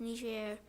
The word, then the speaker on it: Niger: Our first destination was the country of Niger, pronounced Niger, on the south side of the Sahara Desert.